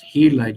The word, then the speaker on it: Gila: as a teacher uh is this Gila or no you know that It's pronounced helled. You can tell your students that's how to pronounce that.